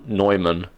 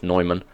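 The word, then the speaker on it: Neumann: proof we works oh Adam Adam nyman or Newman I don't know how you guys pronounce It in America I think technically it's nyman uh once tried to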